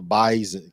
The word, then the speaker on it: Bison: it yes it is the bisen make sure you pronounce that right get your practicing the